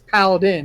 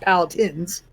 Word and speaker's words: paladin: power tens and that it's paladin it's not pallet ins you really can't correct